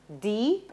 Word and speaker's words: depot: What's the correct pronunciation of the word spelt D-E-P-O-T, which means a place for storing goods? Depot. That's right.